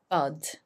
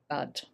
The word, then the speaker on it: bud: And the pronunciation here is bud. So it's that up sound, bud.